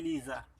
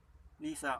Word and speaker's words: Liza: Okay, yung sa iba naman, kung binibigkas mo tong za na sa lang, okay, dahil sabi nila, Spanish influence, hindi siya binibigkas as za, kundi sa. Okay, pero kung halimbawa binibigkas mo siya ng za, at kung pinapalagan mo